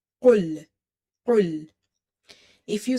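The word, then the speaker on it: قل: Qaraf is heavy. And in the last class, I have explained the makharaj, the articulation point or pronunciation point for the qaf, that it's heavy and it's pronounced from the root or the back of your tongue when it touches the soft palate or the soft part of your upper palate. And it's quite heavy, full mouth letter, qul, qul.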